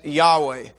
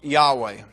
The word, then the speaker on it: Yahweh: agreement with this as Yahweh by adding the a and the e the vowel sounds. Uh you can't say yhw but they most believe that it's pronounced Yahweh.